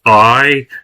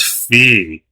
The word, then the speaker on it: Fi: This character is pronounced Fi, not Fee.